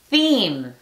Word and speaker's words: theme: La E le dice a la E que diga su nombre. Theme. En este caso cambia la pronunciación de la TH, pero no le hagan caso.